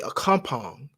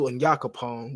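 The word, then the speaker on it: Onyankopon: all right and again the white man would say a compound opposed to anyakopong which the early slaves would say all right so the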